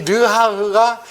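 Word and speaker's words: רוח: 그래서 이 구원은 말씀에 근거해서 우리가 수긍함으로 바람처럼, 이 발음이 르하흐입니다. 이 르하흐가 영이라는 뜻입니다.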